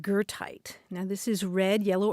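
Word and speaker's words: goethite: there at one time and gertite is spelled g-o-e-t-h-i-t-e and when i first saw that word grant i thought well that looks like gerta the name of the german poet is there a connection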